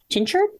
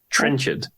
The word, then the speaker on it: Trenchard: It's Trenchard. Trenchard.